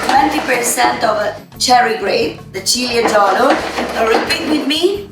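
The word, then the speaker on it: Ciliegiolo: We made 20% of cherry grape, the Cilieggiolo. Repeat with me, Cilieggiolo. Right. Julia, is it correct? Everybody's saying it right? Cilieggiolo.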